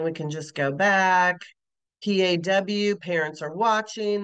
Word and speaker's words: PAW: can just go back P A W parents are watching that's actually pronounced as paw which is a true acronym when the letters form